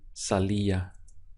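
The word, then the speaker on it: salía: put it up here we have salir going to salia Sally Sally can hear the ia sound here iya how do you say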